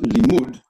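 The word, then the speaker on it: לִמּוּד: And the same spelling, Lamed Mem Dalet, but pronounced Limud, means a disciple, one who is taught, a follower.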